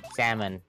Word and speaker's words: salmon: Salmon. You do not pronounce the L.